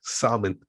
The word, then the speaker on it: salmon: the girls told her the L is s it just blew her mind yeah I mean I